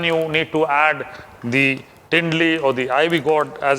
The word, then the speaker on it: Tendli: So that's when you need to add the Tindli or the Ivy Gourd as it is known.